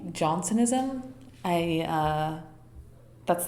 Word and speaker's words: Jansenism: And apparently in English, you say Jansenism. Johnsonism. Um, and in in French, it's uh uh so I'm just going to say Johnsonism.